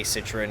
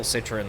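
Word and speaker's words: Citroën: and then uh Citroen but the way I say Citroen is like Turin because I think they're all dog there's not a single Citroen that I like why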